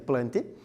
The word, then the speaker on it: plantae: Professor, por que algumas vezes você usa a denominação plantae, que se pronuncia corretamente plante, ou metafita?